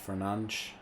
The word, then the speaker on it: Fernandes: You know, Bruno Fernandez is pronounced Fernandes. in Portuguese, so I don't know if Barros, it would be Baros.